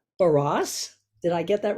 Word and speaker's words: Barrosse: Barrosse.